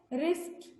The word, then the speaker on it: wrist: रिस्ट W silent है, फिर राइटिंग W silent है।